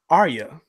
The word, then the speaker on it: Arya: It's actually pronounced Arya.